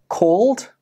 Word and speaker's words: called: Even though these words are spelt with an ed, they do not end with an id sound. Instead, they end with the da sound.